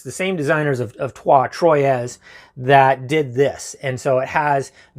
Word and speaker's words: Troyes: And for those, Trois is how it's said, I guess. It's the same designers of Trois, Troyes, that did this.